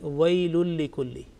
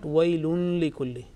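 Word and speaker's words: ويل لكل: wailun and likulli, and when we join together, then there is absolutely no nasal sound, and we pronounce like wailul likulli. Okay, and this has been covered in the lesson of Surah Al-Ma'un, that wailul likulli, not wailun likulli. There is no tinge of nasal sound.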